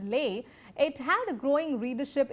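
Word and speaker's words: lais: and also her work, pronounced L-A-I-S and pronounced as Lay, it had a growing readership even before Caxton, even before the prevalence of printing press.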